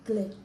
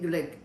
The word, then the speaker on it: Glick: Mel's Life in England signing off, and it's been lovely talking to Lucy Jacobs, Swedish, Swedish Glick. Did I Lucy- say it right? Yes. Swedish, Lucy Glick, G-L-I-C-K.